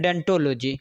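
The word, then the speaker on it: odontology: ओडेंटोलॉजी कहता है, लिखाता है ओडेंटोलॉजी, पढ़ते हैं डेंटोलॉजी। ओ साइलेंट होता है।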